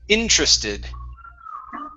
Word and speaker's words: interested: is okay uh interested so our stress is at the very beginning okay we do not want to pronounce that vowel okay so it's interested interested okay good so let's